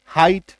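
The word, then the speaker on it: height: जीएस टी आता है तो जी कट एच कट कट कट अब पढ़िए ह आई ट हाइट आई बात समझ में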